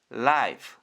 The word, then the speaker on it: live: 정리하면 L 리을 I F 피읍 e는 소리가 나지 않는 묵음 합치면 live 오늘의 마지막 단어 보다라는 뜻에 L o오케루 look입니다.